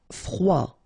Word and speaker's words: froid: Froid. Final D not pronounced.